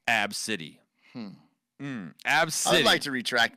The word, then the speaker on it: Abcde: well okay ABCDE right the mom says her name is pronounced AB City hmm hmm absolutely to